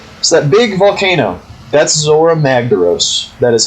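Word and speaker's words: Zorah Magdaros: So that big volcano, that's Zora Magdaros.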